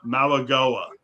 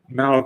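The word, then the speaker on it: Mauigoa: And by the way, I got the proper pronunciation too, believe it or not. Malagoa. Malagoa.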